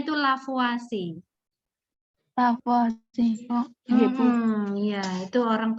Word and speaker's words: Lavoisier: merupakan hasil dari penelitian sederhana yang dilakukan oleh lavoisier di laboratorium Nadia merekam by da biasanya membaca caranya baca itulah for watching lapo-lapo asyik lavoisier itu dibandingkan orang Perancis ya bacanya tuh lavo asing bahwa chefathi bingung yaitu orang Perancis ya silahkan